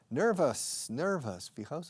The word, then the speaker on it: nervous: La OUS al final de las palabras en inglés nunca se pronuncian OUS. Por ejemplo, famoso, famous, no famous, okay? Famous, nervous, mountainous, montañoso, superfluous, para nosotros, for us. Esa pronunciación, us, esa pronunciación de OUS al final de tantas palabras. Nervous, famous, okay?